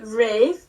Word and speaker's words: Ralph: I think it's actually Ralph. No, it's actually pronounced Ray. I'm pretty sure it's pronounced Ralph, but he changed it to being pronounced Rafe. No, it's actually Rafe, but he goes by Ralph because it's easier.